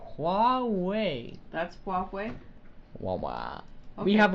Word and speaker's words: Huawei: I just got it I know it's like white they pronounce it Huawei that's walkway wah-wah we